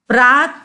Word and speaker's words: प्रातः: ठीक है, प्रात लिख के 2 डॉट लगाया है, ठीक है, पर हम उसको बोलते हैं प्रातः, नमः, क्रमशः। ठीक है, तो जो 2 डॉट है उसका उच्चारण हम ह जैसा करते हैं।